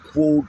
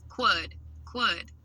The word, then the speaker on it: quod: Quod, like quad.